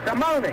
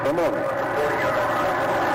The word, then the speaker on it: Simone: Not the French pronunciation, but the Italian pronunciation. Yeah, I can forget how you pronounce everyone. Simony. Mark Fraser is my authority over here. Simony as the money.